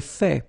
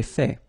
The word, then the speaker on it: fait: J'ai fait. So remember, final T is not pronounced. J'ai fait.